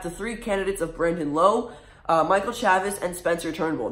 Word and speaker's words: Lowe: three candidates of Brandon Lowe, Michael Chavis, and Spencer Turnbull. Now, I don't know if I pronounced Brandon's last name right. It's either Lowe or Lau. It's spelled L-O-W-E, and he is the Tampa Bay Rays second baseman.